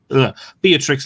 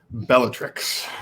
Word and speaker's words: Bellatrix: potter and philosopher stone and then be it beatrix lestrange is the person who killed dobby 14 3 at this stage yes andrew i believe it's pronounced bellatrix my apologies and i am not very good